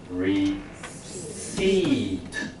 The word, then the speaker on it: receipt: ，有一个字叫收据 receipt， P 不发音哦，但它一样这个字根。